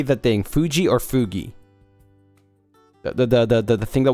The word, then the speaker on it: Fuji: Fuji or Fugi? The thing that we use for, like, collabs and stuff. Fugi or Fuji? I call it Fuji. Because it's supposed to be for Mount Fuji, not Fugi, right?